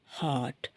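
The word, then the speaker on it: heart: இருக்கணும் மெல்லினமா இருக்கணும் டீயும் மிருதுவா இருக்கணும் மெல்லினமா இருக்கணும் ஹார்ட் எப்படி இதயம் வந்து எப்படி ரொம்ப மிருதுவானதோ மெல்லினமானதோ அதே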